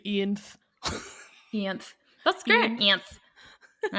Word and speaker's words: Ianthe: audiobook the second time, the narrator was saying Ianthe. So I trust that. That seems right to me. And I'm just an idiot because of the way it's spelled. I said Ianthe.